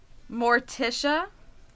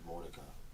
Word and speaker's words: Mordecai: Pronunciation is Mordecai. Mordecai? Yeah. I'm sorry, Mordecai.